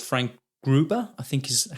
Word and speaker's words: Frank Gruber: And one of the other guild members, called Frank Gruber, I think is how you pronounce it, says that L.